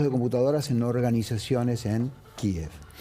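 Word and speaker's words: Kyiv: Vos fíjate que antes de que llegaran los tanques a Kiev, como pronuncian los ucranianos, entró el malware.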